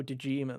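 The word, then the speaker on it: Dojima: and i'm like oh dejima that's it i'm like okay yeah i remember his because it rhymes with kojima of course you do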